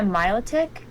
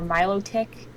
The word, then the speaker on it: Milotic: like to be a Milotic or Milo tick I know it's could be pronounced either way um I'd like to